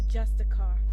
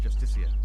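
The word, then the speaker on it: Justiciar: ass clown he's a justicar a foul it's pronounced justicia let's all go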